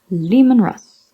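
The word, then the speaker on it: Leman Russ: fulcrum F Aramis Erebus Lehmann Russ with Russ as in rust Lehmann Russ Horace with the to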